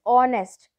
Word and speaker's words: honest: So over here we can say h is silent, therefore after h whichever word is given, that we will consider as a vowel, and for that we will put n as an article.